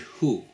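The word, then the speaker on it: הוּא: When the Torah describes the camel and the rock badger, it uses the Hebrew word hu, which is masculine. However, with the hare, the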